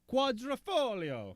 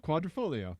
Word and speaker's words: Quadrifoglio: how to follow yep we watched youtube videos about how to pronounce it well and and we've discovered also the key is to do the stereotypical uh-huh like pretend you're about to say that's a spicy meat-a-ball right do that thing with your fingers you've